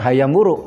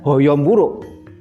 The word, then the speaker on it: Hayam Wuruk: yang terkenal Hayam Wuruk membacanya tetap Hayam Wuruk bukan Hoyong bulu sehingga sastra Jawa mengenal